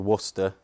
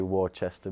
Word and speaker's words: Worcester: Yeah, it's called Worcester. Worcester, yeah. Worcester. Americans say Worcester, but it's okay.